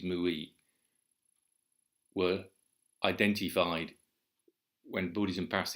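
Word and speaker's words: 無為: And of course, the other thing to bear in mind is that the Chinese characters wu wei, pronounced in Japanese mui, were identified when Buddhism passed into China.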